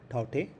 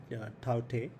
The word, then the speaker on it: Tauktae: it will be named taute i think that's the right pronunciation because k is silent so it is taute given by myanmar so